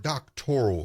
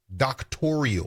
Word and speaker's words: doctoral: And if you listen carefully, the word doctoral in this conversation becomes a sticking point because she can't even pronounce the word. She pronounces it doctorial.